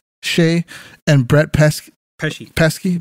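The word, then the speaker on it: Skjei: Burns Brady how do you say his name Shay Shay and Brett PES pesy pesky pesh and Demitri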